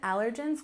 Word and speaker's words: allergens: Once again, allergens, we stress the first syllable, allergens, allergens. Of course, there's many other allergens besides nuts and dairy, but those are the most common.